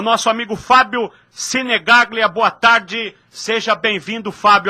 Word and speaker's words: Sinegaglia: Sinegaglia. O segundo G é mudo.